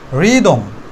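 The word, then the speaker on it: rhythm: থাকে তাহলে আর উচ্চারণ হবে ঠিকই কিন্তু এইচটা সাইলেন্ট থাকবে ইনস্ট্যান্ট রিদম রিদম এখানে আর এর পরে দেখো এই আছে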